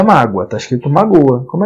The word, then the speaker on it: mágoa: tem acento finalzinho Júnior Qual é a sílaba tônica na tem duas sílabas só mágoa então é uma paroxítona e terminada em ditongo Então na verdade só